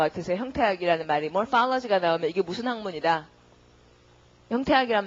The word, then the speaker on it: morphology: 그 다음 형태학 발음은요. morphology. pha의 강세가 붙고 그러니까 morph라는 어근에다가 학에 해당하는 OLOGY를 붙인 거죠.